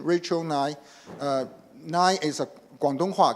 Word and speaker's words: Ngai: so her name just cry to make the pronunciation Rachael Nye Nye is a guangdong ha Cantonese and in